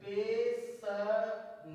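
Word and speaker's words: passion: T light next rules जब किसी शब्द में टी या एस के बाद आईओ आए तो आईओ को आ पढ़ते हैं फॉर एगजाम टी आई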